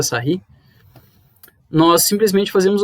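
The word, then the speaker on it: Sarrus: Aqui nós temos pela regra de Serry aqui, de Sarros, mas se pronuncia Serry, nós simplesmente fazemos o quê?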